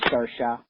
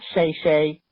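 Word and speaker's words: Saoirse: because I have an artish name people keep mispronouncing it is sersa not Shay not sha not sarice Witherspoon sersa anyway love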